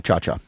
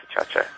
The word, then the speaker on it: Ciaccia: And that was her name, Benedetta Chacha. Yeah, Benedetta Chacha. We've been talking with Raj Babbra, who has made a documentary film about his friend Benedetta Chacha, who was lost in the 7/7 bombings in Great Britain.